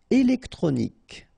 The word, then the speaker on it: électronique: Électronique. Okay, so as we saw previously, Q-U-E at the end, K. Okay, électronique.